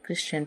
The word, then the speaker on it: christen: Example है जैसे CHRISTEN, क्रिश्चियन। तो इसमें जो है, जैसा कि यहाँ बताया गया है STEN, तो STEN आया हुआ है जिसमें टी साइलेंट होता है और हम लोग इसे क्रिश्चियन पढ़ते हैं।